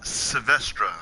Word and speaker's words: Savestra: This is the Honest Savestra, I think. The Savestra? Yeah, that's how you say it.